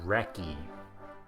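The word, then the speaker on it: recce: how to say it it's oldfashioned British pronounced wrecky if you wrecky an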